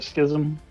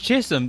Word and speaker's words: schism: do what are you going for a schism is that how you pronounce that yeah i've been calling it epic pronouncing it chisholm this entire time excuse me okay i'm